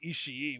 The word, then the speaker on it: Ishii: we've had the same problem with Ishii, where we only wanted to pronounce the double I as one sound.